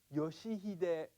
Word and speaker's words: Yoshihide: the five vowel sounds it's pronounced yoshihide fujimura which means the american